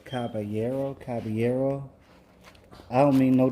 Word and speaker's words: Caballero: then you cover down Caballero I kept saying Caballero my cousins my cousins kept correcting me it's not Caballero is Caballero Caballero I don't mean